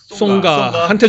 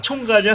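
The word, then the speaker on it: Tsonga: 나가서 그 프랑스 선수 송가한테 좀 물어봐야 될 것 같습니다. 총가냐? 왜 누가 그 T하고 S가 붙으면 CH 발음이 난다고 누가 그걸 만들어내는지 모르겠는데 맨날 총가 막 이렇게 얘기하는데 총각 같아서 결혼 안 한 줄 알고.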